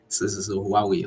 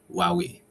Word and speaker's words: Huawei: I I know when why we actually is a pronunciation so let me just correct that okay Huawei likewe hwei okay hwe w y no